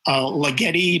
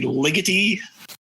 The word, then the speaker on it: Ligeti: For years, I pronounced his name Ligeti, but I think it's actually Ligeti.